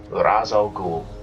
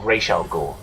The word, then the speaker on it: Ra's al Ghul: That is the demon's head, Raz Al Ghul, or Ra's al Ghul, depending on where you want to pronounce it or not.